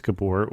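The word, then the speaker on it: Gábor: to come and you say his name is kabor which happens to be the name of at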